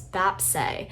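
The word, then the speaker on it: 뱁새: And now Silver Spoon, in parentheses crow tit, which in Korean that's pronounced as bapse, is another really interesting track that I highly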